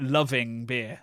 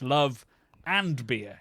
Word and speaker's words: Love & Beer: put to bed the people that call it loving beer loving beer which is the way we pronounce it we apologize but uh yeah it's love and beer is how we things yes cuz we're all